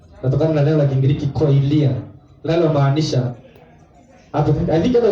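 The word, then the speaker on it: κοιλία: Hivyo tu inatamkwa koilia.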